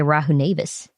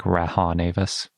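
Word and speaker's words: Rahonavis: dinosaur of the day rahu nevis nice i think we've been pronouncing that one wrong a lot like raha navis it's possible our pronunciations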